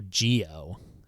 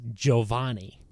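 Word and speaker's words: Giovanni: gavon yeah but that's you don't go Gio it's Jovani like that's way the only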